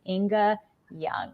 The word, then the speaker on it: Ynge Ljung: So the rest of us are just like, wait, how do you pronounce it? Ynge Ljung.